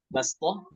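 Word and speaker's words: بَسْطَةً: Bastoh. بسطة تقرأ بالسين بسطة. Ya, itu dibaca hanya dengan sin saja, bastoh ya, bastoh di Al-A'raf itu ya, di surah Al-A'raf.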